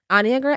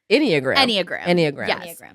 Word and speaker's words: Enneagram: this we were like how do you say it aniagara iniagara but it's it's Enneagram I took the Enneagram